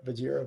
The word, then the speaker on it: Vajira: Yeah, Vajira.